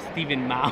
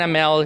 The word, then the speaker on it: Amell: I don't know, Stephen Mao. Stephen Mao? Yeah, so I thought of an Asian person by the way he pronounced it. But yeah, it was Stephen Amell.